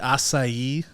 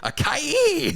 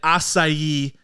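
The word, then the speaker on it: açaí: wrong I don't know do you say Akai no I think that's wrong I think it's wrong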